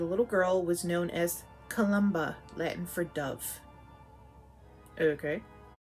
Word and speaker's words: Columba: patron scene of witchcraft saint columba not colombia columba of riti there